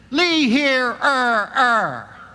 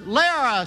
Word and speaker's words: Lehrer: and he got the mind and he said Lee hear her and like some kind of idiot I've learned it out it's pronounced lira sir There was silence absolute silence and then